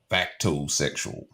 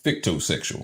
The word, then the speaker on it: fictosexual: Have you ever heard of the term factosexual? Huh? Only recently. Factosexual. You ever heard that term before? Like fact or fiction? Is that how you saying it? Facto? Maybe I'm saying it wrong. Fictosexual.